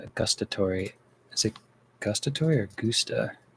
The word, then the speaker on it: gustatory: How do you pronounce gustatory?